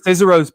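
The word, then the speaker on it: Cicero's: entire world it's called scissors pizza it's insanity fizzero's pizza spell it c-i-c-e-r-o-s it's in san jose you just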